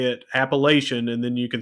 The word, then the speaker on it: Appalachian: At Appalachian State, however you want to pronounce it. I say Appalachian. You said it right. I know, but most people don't.